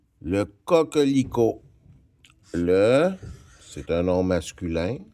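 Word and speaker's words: coquelicot: Le t il est muet, je ne le prononce pas mais il doit être écrit. Le cocico sommes rendus au numéro 6.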